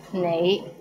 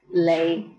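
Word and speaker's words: 你: is the word you the right way to pronounce it is nai but in hong kong many people pronounce it as lei how was it pretty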